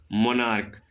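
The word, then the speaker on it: monarch: ठीक है इसी प्रकार से एक और था मोनार्क मोनार्क मतलब होता है राजा तो देखिए को सी एच का उच्चारण को तो यह भी आपका हो जाएगा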